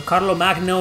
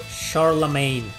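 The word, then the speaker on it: Charlemagne: happen my opinion so Carlo Magno is pronounced charlam charlam thanks I'll think I'll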